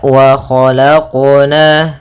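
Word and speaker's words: وَخَلَقْنَا: Nah, kemudian untuk qalqalah dalam huruf qaf jangan sampai adanya saktah ataupun adanya tambahan huruf seperti huruf hamzah. Misalkan wa khalaqna itu ada tambahan hamzah. Harusnya dalam pelafalan qalqalahnya tidak ada tambahan hamzah ataupun saktah. Ya, kan tapi dia langsung saja mengalir. Wa khalaqna, wa khalaqna.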